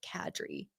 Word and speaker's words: Kadri: And he's like, Kadri.